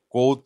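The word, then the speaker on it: Kvothe: নাম হচ্ছে কোত কোথ উচ্চারণটা একটু মানে ক এর উপর জোর দিয়ে করতে হবে কারণ হচ্ছে ইংরেজিতে বানানটা হচ্ছে কে ভি ও টি এইচ ই টাইপের একটা বানান তো সেজন্য এটাকে কোথ এভাবে বলতে হবে আর সে যে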